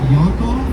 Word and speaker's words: Yankov: This is his real name, and there are people that tell me that it's pronounced Yankov, but we did not call him that. We called him Mr. Yankov.